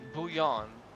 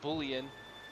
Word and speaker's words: bouillon: You're supposed to say it like bouillon. Bouillon. Not bullion.